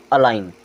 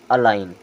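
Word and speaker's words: align: के बाद जी है ये क्या हो जाएगा अलाइन क्या होगा अलाइन ये क्या हो जाएगा असाइन क्या होगा असाइन क्योंकि जी होगा साइलेंट अब इसे पढ़ेंगे असाइन फिर यहां पर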